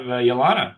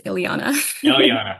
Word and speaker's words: Ilana: Uh, next up we have Yana. Did I pronounce that correctly? Uh, it's Ilana.